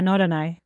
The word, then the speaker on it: Norderney: But I'm hoping you can introduce the listeners to Norderney. Is that how you pronounce it? Yeah, Norderney. Yeah, it's the oldest links course in Germany.